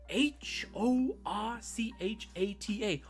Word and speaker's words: horchata: Horchata. Horchata. I was like, okay, first of all, why are you putting so much emphasis on like on the WH? There's no W in horchata, right?